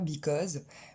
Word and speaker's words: because: C'est parce que c'est cette syllabe-là qui reçoit l'accent principal, donc elle va ressortir un peu plus.